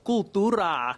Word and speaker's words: Cooltura: The store is called Cooltura.